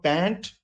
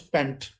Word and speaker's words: pant: like this for example pant becomes pent tax becomes tax and